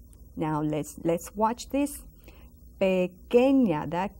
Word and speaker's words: pequeña: And one that changes, and we have seen it before, is pequeña. Now let's watch this. Pequeña, that Q and that U together. Pequeña, that U is silent.